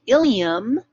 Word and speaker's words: ilium: this part that's pronounced ilium same pronunciation as we had on the the slide just before which was ileum but the ileum with